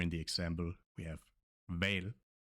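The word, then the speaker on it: hval: Here in the example we have val, val, and it means whale. Okay, that's it for some tricky Danish pronunciations.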